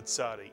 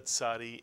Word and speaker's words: Tzadee: And again, in my mind, the Tzadee has the TZ built into it. But please don't mistake the ayin, which is silent, with the Tzadee, which is TZ.